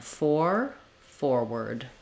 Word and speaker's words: forward: That has the sound, or here I've just written it W-E-R-D, just so that you can know that it has the sound rather than an R or an or that you might expect. So again, forward.